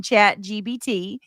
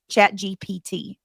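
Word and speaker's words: ChatGPT: Uh Gabby says, "I'm smarter than chat GBT."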